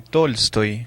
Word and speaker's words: Tolstói: El día de hoy vamos a hablar sobre Tolstoy. Si no me equivoco, se pronuncia así, ¿verdad? Exacto, León Tolstoy.